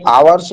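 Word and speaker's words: hours: इसको आवर्स पढ़ते हैं बच्चों। एट साइलेंट रहता है।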